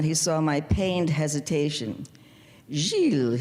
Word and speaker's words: Gilles: Gilles, he pronounced correctly with the soft G, yo te lo corto.